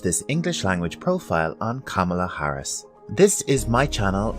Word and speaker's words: Kamala: with pronouncing her name it's actually quite easy Kamala Kamala repeat after me Kamala